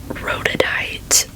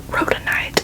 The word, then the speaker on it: rhodonite: so i believe that this is rhodadite rodent night rhodonite i believe is how you say that and this is